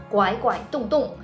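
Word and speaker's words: 拐拐洞洞: In our industry, it is pronounced as Guaguaidong. The hole means that 7 is read as guai and 0 is read as dong.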